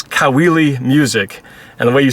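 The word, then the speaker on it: Caoili: my youtube channel it's kaweli music and the way you spell my name i'm filipino so the last name is spelled c-a-o-i-l-i and that's kaweli music that's the name of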